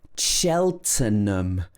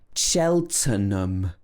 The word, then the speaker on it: Cheltenham: uh so this is cheltenham cheltenham so we don't say so the t e n in the middle is pronounced turn not ten it's not tan or ham it's cheltenham and this is where